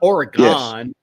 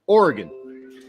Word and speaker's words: Oregon: See, it's not Oregon, it's Oregon. Just kind of like, well, what organ in his body was you taking out?